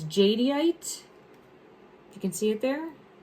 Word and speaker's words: jadeite: Jade, but it's jadeite.